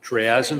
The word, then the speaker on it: triazine: n i um I think you pronounce it triazen Here I have a poop sheet on it.